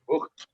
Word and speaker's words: Voigt: My English friends pronounce my surname is Voigt. It's actually German, Voigt, or in Afrikaans, Voigt.